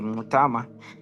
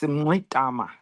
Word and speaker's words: Mngxitama: Yes, my name is Andile Mngxitama. It's got those clicks which we inherited from the Khoisan. That's the sound. How do you say that sound, Andile? Is there a click to it? Yes, Mngxitama.